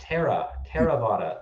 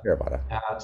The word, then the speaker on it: Theravada: And it's pronounced Theravada. Theravada.